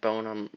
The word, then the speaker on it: bonum: This is Summum Bonum, my favorite poem that I've ever written, and bonum rhymes with poem, so it's like meant to be.